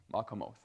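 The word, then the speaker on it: מקומות: What's the next syllable? Co. Actually, no, it's it's com. No, it's that's right. Mcom o. Yeah, that's how it is. Makamoth. So that's the the word divided into syllables there. Now the tonic syllable, the accented syllable is the oath, the last one.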